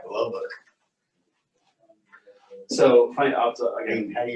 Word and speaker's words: Lubbock: I go, you mean Lubbock?